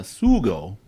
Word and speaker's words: sugo: You again, we'll talk about your team, Why Not Barbecue, but that leads into the barbecue sauce and the sugo.